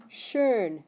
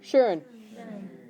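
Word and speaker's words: schön: over the O how would you say that shurn everybody try shurn okay so it's pronounced sh ear okay and that means nice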